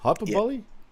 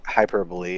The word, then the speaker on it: hyperbole: wants to tell Roman oh is that how it's pronounced hyperbolly yeah hyperbole yeah that's weird anyway thanks for the